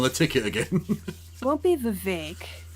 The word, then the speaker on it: Vivek: Won't be Vivek. Rhymes with cake.